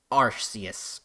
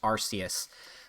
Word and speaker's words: Arceus: it both ways so historically his name his western name was pronounced arceus uh there was some concerns with that pronunciation uh because now that you say that yeah because because of the start being sounding sweary in uh um british english